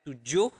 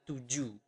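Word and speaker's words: tujuh: But in Bahasa, we do not pronounce the H at the end of the word. So you do not pronounce it as 7, but 7.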